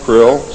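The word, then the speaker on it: Krll: His name and title was his omnipotent highness krill, pronounced krill, spelled K R L L or C R L.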